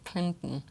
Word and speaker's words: Clinton: Es que es el mismo sonido al principio. La primera sílaba. Mira, en español dices Clinton. Radicalmente opuestos. Las sílabas aquí. Sí. Pero en inglés, rima. Clinton. You understand? Yes. Clinton. Okay? Clinton. La T la quiero oír.